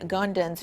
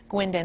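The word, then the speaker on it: Guindon: Officer Ashley Gundon's funeral is today. Gwendon, I should say, is how you pronounce her last name.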